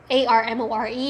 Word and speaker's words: Armore: It's spelled A-R-M-O-R-E. Yeah? So to me, that's Armore with Amor.